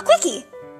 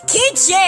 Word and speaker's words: quiche: A quickie. The fancy egg-type things? It's pronounced Quiche, Adora! Quiche!